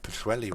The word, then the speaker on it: Pwllheli: those who don't know, the double L in names in Wales is pronounced with a it's sort of like a CH double L noise.